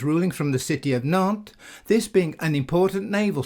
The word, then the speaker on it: Nantes: The French at some time in the past dropped the pronunciation of the letter S. On examining the evidence, Nantes seems most likely to have been the original pronunciation of the name.